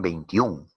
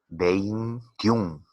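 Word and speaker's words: veintiuno: ¿Qué pasa con 21? Pronúncialo. 21, 21. Tiene 2 sílabas. Tenemos 2 diptongos. Esta E y esta I se mantienen juntas.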